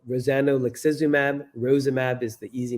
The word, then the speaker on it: rozanolixizumab: just launched last Friday using a drug called rozanolixizumab. Rozimab is the easy name, easy way to pronounce it.